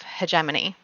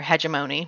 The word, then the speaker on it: hegemony: came up with the concept of hegemony or hegemony depending on on who's pronouncing it which is the idea